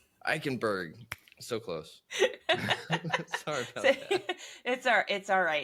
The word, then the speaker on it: Eickenberg: today we have a very special guest ekenberg I said that right correct yeah ikenberg ikenberg so close sorry about that it's all it's